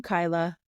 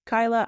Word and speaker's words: Cuyla: right here right now I am Kyla I know the spelling is a little confusing but that is how you pronounce my name CUA Kyla I am a life